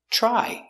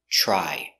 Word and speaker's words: try: they fixed it pronunciation try you have TR TR together makes the chch sound like chicken so together chch try I tried to fix